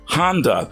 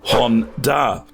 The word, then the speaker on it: Honda: never knew about a Honda Honda is typically pronounced Honda but the correct pronunciation is Juan da Jack X uses an E Honda inspired swap